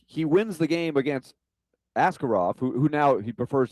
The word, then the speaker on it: Askarov: said, "Yeah, call me Askarov." Where where after we were with him for 3 years in Milwaukee, and we went over it how you say it really in Russian, which is Askarov.